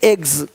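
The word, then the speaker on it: eggs: जैसे कि यहाँ पे रूप्स, यहाँ जा साउंड नहीं आएगा, लेकिन यहाँ पे एक्स नहीं एग्स। हीरोज, हीरोस नहीं, देख रहे हो, रुपीस नहीं रुपीज, ज का साउंड आ रहा है हल्का सा।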